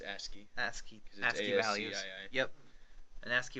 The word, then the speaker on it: ASCII: Is that how you say it? Yes. I always said ASCII. It's ASCII.